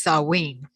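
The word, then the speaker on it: Samhain: it's spelled s-a-m-h-a-i-n and I learned that it's pronounced sawing yeah because it looks like that and I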